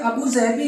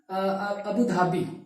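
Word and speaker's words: Abu Dhabi: और अबू धाबी, actually इसका pronunciation जो है अबू जहबी है, बट we call it अबू धाबी, ठीक है।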